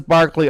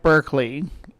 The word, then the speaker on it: Berkeley: And the British guy says Berkeley, I'm going to say Berkeley. Even though it's spelled like Berkeley, which is the college in California.